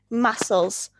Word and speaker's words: muscles: You don't pronounce the C. Muscles.